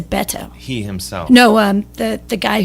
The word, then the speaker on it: Beto: I phone banked, and the guy instructing how to phone bank for him, it's Beto. It's Beto? Yeah. Oh, because I he says Beto. He says Beto.